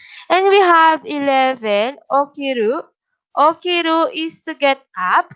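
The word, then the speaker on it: を: to understand and of course the pattern sentence or pattern word order paramas madalina ma understand so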